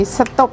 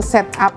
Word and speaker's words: setup: Jawa juga ada ya yang namanya stop jadi setop tulisannya memang setup2go ya kadang ada anak-anak muda itu yang mengira itu bacanya to set up gitu ya pada maksudnya namanya stop nah stop ini menjadi